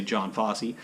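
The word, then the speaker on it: Jon Fosse: name and it's by yon uh fosse i believe is how you say his name or the norwegian accent in america we just say john fosse that's what his name looks like uh it's called the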